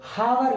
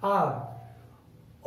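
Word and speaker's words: hour: तो ये हावर ना बोल के आ से साउंड करनी है, ना कि है से साउंड करनी है, आवर।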